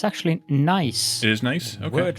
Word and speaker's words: gneiss: But I think Nice is the correct pronunciation. English in pronunciation. English. Yeah. I think I looked it up, and that's how it is pronounced.